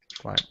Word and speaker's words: climb: the mountains tomorrow yeah we wouldn't say climbing say climbing climb yeah very good like thumb yeah okay last one